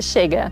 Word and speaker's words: Chega: Tengo que hablar de la campaña que hoy muchísimas mujeres aplauden de pie y es Chega, ¿cómo se pronuncia? Chega de Fiu Fiu. Chega.